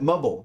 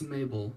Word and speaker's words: Mabel: question oh maybelle met mubble mabel how do you say it hey howdy hey hey howdy hey how do you say your first part of your name it's mabel mabel there it is got